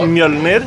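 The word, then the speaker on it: Mjölnir: No, the Mjolnir, however you pronounce that. Yeah. Can you pronounce it? What? Can you pronounce his hammer? What's it called? What is it actually called? Oh God. Say again? Oh, Mjolnir?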